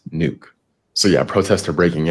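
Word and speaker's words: Nuuk: Protests have already broken out in Copenhagen and Nook. I think that's how you pronounce it. Forgive me if I'm wrong. I was wrong. I just went and looked it up. It's pronounced nuke.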